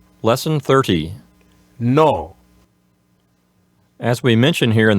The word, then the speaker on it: no: And so have that in mind and just make sure you don't have any oo sound at the end, not no. No, that oo sound at the end, don't do it in Spanish. Just no.